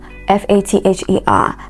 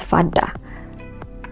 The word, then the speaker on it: father: a word like father f a t h e r that word is not father Our Father who are in himen no way it's father father my mother my brother